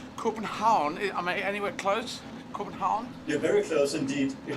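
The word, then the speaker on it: København: am i anywhere close corbin holland you're very close indeed it might be a coupon how coupenhau yeah so no n at the end no n sound so coupe and how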